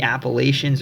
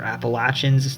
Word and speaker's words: Appalachians: the west, and the Appalachians or Appalachians, the pronunciation really depends on where you live, and it's humid continental, with 4 distinct seasons and colder winters than the rest of the state.